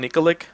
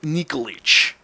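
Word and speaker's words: Nikolić: Milan's uh Milan nickx I used to call Milan nikolic but it's actually Milan nikolich I like getting the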